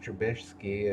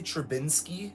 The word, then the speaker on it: Trubisky: How long before they bench Trubisky and bring somebody else in? Every time you say his name, don't you want to say Trubinsky? It's like he's missing a letter.